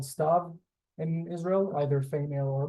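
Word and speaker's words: סתיו: male it's unisex um it's weird phonetically because it has the ud here in the middle I'm moving my cursor around it this UD is silent which is why it makes it star and why it's irregular I it's so small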